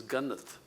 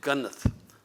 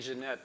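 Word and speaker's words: Genet: For example, in Cutting for Stone, I have an Ethiopian girl whose name is Gannath. Mm-hmm. That's how you say it, Gannath. It's spelled G-E-N-E-T. Oh, and everybody saying Jeanette or something like that.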